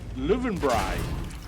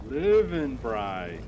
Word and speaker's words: Löwenbräu: I said, Lowenbrau. Beer. She said, oh, Löwenbräu. Oh, Löwenbräu.